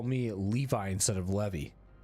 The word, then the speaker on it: Levy: I've had Levy, Levy, and Levi. It's Levy.